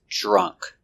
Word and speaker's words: drunk: and the participle is drunk using the short uh sound like up and cup draw drunk we use